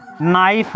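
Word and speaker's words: knife: पूछता है बारबार जैसे नाइफ है के एन आई एफ ई नाइफ और इसमें के जो है साइलेंट है के क्या है नाइफ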